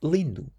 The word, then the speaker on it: lindo: The word beautiful in Portuguese is lindu.